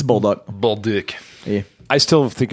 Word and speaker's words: Bolduc: It's Bolduc.